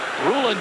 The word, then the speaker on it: Rulon: Rulon Jones was the man applying the pressure, and Rulon Jones prefers his first name pronounced Rulon. Sometimes you hear it Rulon Jones, but he said it's Rulon.